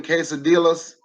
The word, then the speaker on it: quesadillas: go make some more vegetarian quesadillas for my daughter you don't pronounce the l don't forget i know